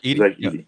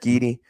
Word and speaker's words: Zach Edey: Zach Edey. Zach Edey.